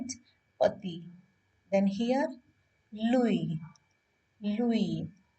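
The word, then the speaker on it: Louis: is py then here Louie Louie last s is completely ignored Louie is the name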